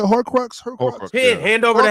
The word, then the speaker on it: Horcrux: It's like a hercrux or whatever. How you say it? Horcrux.